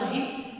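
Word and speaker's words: ऋ: मात्रा, ऊ की मात्रा, री, इसका प्रोनाउंसिएशन रू भी करते हैं, लेकिन री करना अति आवश्यक है।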